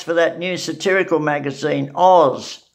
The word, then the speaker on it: Oz: that new satirical magazine, Oz, O-Z, it's pronounced Oz.